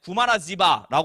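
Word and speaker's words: 구마라지바: 그 첫 번째가 구마라습이에요이 구마라 습은 중국 사람들은 구마라습이라 그래 한자로 발음하면 근데이 사람이 원래 인도 사람이야 인도의 왕자이 그든 그래서 인도 언어로 하면 구마라 지바라 얘기를 하는 거야 본명 구 구마라 지바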